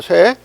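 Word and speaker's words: 殺: 차등이 있어야 된다이 말이야 친친짓에라고 읽어야 돼요 쇠 물론 살자와 같은 자인데 죽인다는 뜻이 아니고 차감된다는 뜻으로 할 때는 소유하고 있는다 시내 차등화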